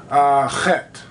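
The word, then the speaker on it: חית: symbol in Hebrew actually, their H sound is, to them, is pronounced with a C-H, kind of like if you were German and you said Bach, the C-H, that kind of sounds like a K, so that would actually be called Chet. So C, kind of like C-H-E-T, Chet.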